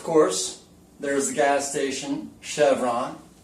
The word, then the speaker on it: Chevron: Comes from a region, a French region, and it's pronounced champagne. What about chalet? And, of course, there's the gas station, Chevron. Chevron, of course, is French.